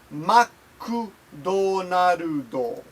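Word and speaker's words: マクドナルド: mcdonalds is not pronounced McDonald's it's it is pronounced maku donor Udall McDonald oh okay nihongo noob says make more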